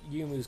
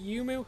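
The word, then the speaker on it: Youmuu: He also went for the Yumu's Ghost Blade. Is it Yumu? I always say it's Yumu. That's basically how it's spelled, so that's what I'm going with.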